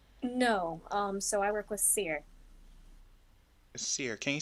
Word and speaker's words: Seer: So I work with Seer. Seer, can you spell that? Yes. So there's two different forms. It's Seer or Seere. So Seer. Okay. Kind of like a seer.